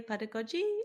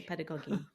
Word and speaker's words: pedagogy: I think some people say pedagogy and some people say pedagogy.